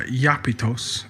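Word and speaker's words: Iapetus: Both originally being pronounced uh Yapitos and Yapetth, an obvious transliteration from the Greek into the Semitic word.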